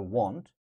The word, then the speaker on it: want: So there's a slight difference in pronunciation between want, so it's like W-A-N-T. You need something, you want something, right? This is want. And this one is slightly different. They say won't. Look, want, won't. So here, there is a little bit W in the pronunciation. I won't, I won't.